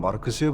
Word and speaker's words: 마르크스: 정보 사는구은 마르크스의 바람까지 공부합니까? 당시에 북한 간부라면 말스라고 해야지 마르크스라고 발음하는 건 북한 사람이 보기엔 어색한 점이라고 하네요.